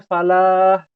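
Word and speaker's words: فلاح: Kayak misalkan begini, hayya 'alal falah, kan seharusnya falah. Ya, tapi ada yang bacanya tasydid. Hayya 'alal falah. Falah ya. Ya. Nah, itu ternyata merubah arti.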